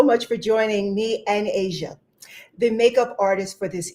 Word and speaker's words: Asha: So, um it's actually pronounced Asia, not like the continent.